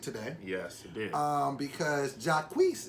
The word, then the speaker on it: Jacquees: Because Jacquees, is that the right way to say it? Jacquees. Yeah, that way.